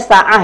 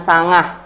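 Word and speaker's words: ساعة: Na'am, ini teman-teman bacanya sa'ah ya, jangan sangah ya. Sa'ah jangan sangah, kalau sangah itu salah ya, Sa'ah.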